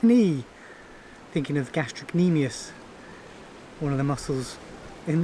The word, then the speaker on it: gastrocnemius: like knee, thinking of gastrocnemius, one of the muscles in the calf. Does it have a silent C? Not really. You kind of pronounce it, but you kind of skip over it.